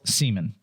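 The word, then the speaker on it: Seamon: No, it's spelled S E A M O N, but it's still Seaman.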